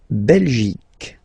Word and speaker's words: Belgique: La Belgique. Okay, remember Q-U-E here. You will get only the sound K, K, okay? Belgique, Belgique. So it's not Belgique, not at all, okay? Because it's only the k.